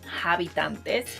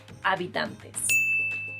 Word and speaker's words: habitantes: person's mother tongue include, English speakers learning Spanish usually say habitantes or habitantes or habitants because it's very similar to inhabitants in a way. But the correct pronunciation is habitantes.